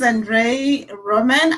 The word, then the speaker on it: Andrei Roman: a special guest okay so his name is andre roman i hope i'm pronouncing your name you are absolutely yeah so